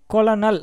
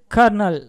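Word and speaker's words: colonel: இப்போது இதை நிறைய பேர் கொலனல் அப்படின்னு தான் படிக்கிறாங்க, இது தெரியாதவங்க. ஆனால் இது உண்மையான உச்சரிப்பு கர்னல், அது கர்னல் அப்படின்னு சொல்கிறாங்க.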